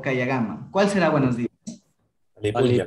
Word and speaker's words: kayakama: Por ejemplo, Kayagama. El primero se lo pronuncia como K, K, y el segundo sería la GA. K, ya, GAMA. ¿Sí? Porque si no sería Kayakama. ¿Sí?